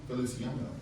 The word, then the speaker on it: Feliciano: how do you pronounce your last name, sir? Feliciano.